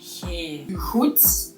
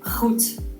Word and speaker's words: goed: Ours is soft. G. Goed instead of goed. Goed, yeah. Heel goed. I feel like you need to have like extra spit in your throat. You do. That's what I always say. I sound like I'm choking when I try it. I cannot do it.